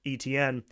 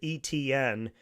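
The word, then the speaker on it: Etienne: people who pronounced it ETN, which you know is just like taking the four letters or the three letters E, T, and N and saying it.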